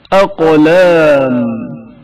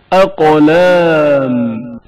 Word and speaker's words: اقلام: اقلام قاف کی آواز شدت کے ساتھ ادا ہوتی ہے اور اچانک منقطع ہو جاتی ہے. اقلام اقلام قاف کے تلفظ کے وقت زبان کی حالت پر توجہ کریں.